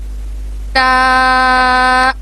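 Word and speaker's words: ת: Next لفظ ہے تا, اور تھوڑا سا ہم نے اس کو لمبا کرنا ہے.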